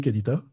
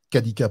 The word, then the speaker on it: Kanika: Ton micro est coupé, Kanita? Kanika, pardon. Kanika, j'ai mal prononcé.